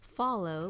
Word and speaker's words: Phthalo: I actually googled how to pronounce this color, and it's pronounced as follow blue. I love painting the sky with follow blue.